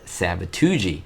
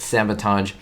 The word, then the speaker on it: sabotage: it's the second time curly says the word sabatuji of course mispronouncing the word sabotage if you want to